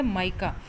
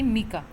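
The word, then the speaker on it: mica: माइका कहाँ पर है, इसकी एग्जैक्ट प्रोनाउंसिएशन होती है वो होती है माइका, ना कि मीका.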